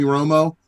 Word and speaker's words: Romo: was talking about Tony Romo and he's like it's not just a coincidence that his name rhymes with homo and he would just